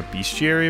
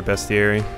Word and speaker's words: bestiary: this game or a bestiary I've heard it pronounced both ways even though it really doesn't look like it would sound like Beast like it doesn't doesn't read like beast at all o it's nice